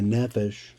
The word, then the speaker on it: nephesh: the nishama and The I just said it wrong. There's the nephesh and the ru the